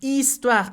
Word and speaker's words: histoire: Et finalement, un autre exemple, sa histoire, histoire, H muette, H muda.